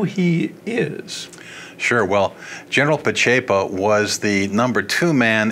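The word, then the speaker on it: Pacepa: called disinformation along with general how do you pronounce his name Ian mahai p'chepo thank you - tough names there and tell us who he is sure well general p'chepo was the number two man in Romania under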